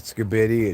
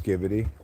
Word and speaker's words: skibidi: hope people recognize that I updated and corrected my pronunciation of skibidi it's not skidy it's skibbidy okay so make sure you